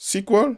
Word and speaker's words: SQL: KINDS OF DATABASE BUT THE MOST COMMON ARE SQL(PRONOUNCED, SEQUEL) AND MONGO DB THE REST ARE JUST A